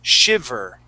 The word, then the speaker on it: shiver: shiver okay so uh remember when we pronounce that V okay your your top teeth are going to go right on your bottom lip V shiv shiver shiv shiv make that vibration V shiv good so shiver shiver shiver okay good